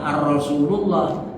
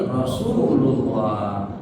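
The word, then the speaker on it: رسول الله: Rasul Allah digabung jadi Rasulullah. Bukan arrasullah tapi Rasulullah.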